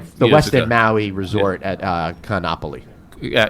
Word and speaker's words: Kaanapali: Actually, in Hawaiian, you pronounce every vowel and every syllable.